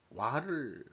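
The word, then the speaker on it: 和: 어 우리가 어 조와 균형을 어떻게 이뤄 나갈 거냐 일본애들은 그 와를 아주 내세우죠. 와가 화죠. 우리 발음으로는 와를 일본애들이 중시하는데 어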